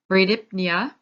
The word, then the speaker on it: bradypnea: Bradypnea, I actually made sure I went to a pronunciation thing to say this. So bradypnea. So Brady, same thing as our Brady, meaning slower.